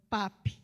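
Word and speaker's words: Papus: vilã some em crochê e cujo pseudônimo era pap que significa o médico da primeira hora temos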